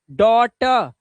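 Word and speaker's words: daughter: जी एच को पढ़ोगे नहीं तो इसको पढ़ोगे ट डॉटर और लास्ट में लगा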